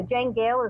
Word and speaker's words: Janegale: The Janegale is a family name. It was my first ancestor from Ireland. Her first name was Jane, last name Gale, like the gale of wind. And that's why it's spelled that way.